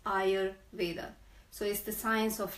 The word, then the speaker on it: Ayurveda: of varrock medicine and I know that many people can't even pronounce it so I'm on agenda to ask everybody to pronounce it's Eyre Vader so if the science